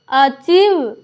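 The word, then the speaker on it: achieve: देखिए ए सी एच आई ई वी ई अचीव उसके बाद देखेंगे डी ई सी ई आई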